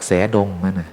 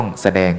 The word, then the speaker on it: แสดง: ถูก ไง อาตมาภาพ จาก แสงดง ไม่ ใช่ นะ ต้อง แสดง ใช่ ไหม หรือ เปลือก